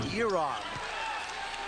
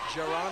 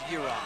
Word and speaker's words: Jaron: And it's Rue who comes into the game, and it's spelled Jaron, J-A-R-O-N, but it's pronounced Yeron.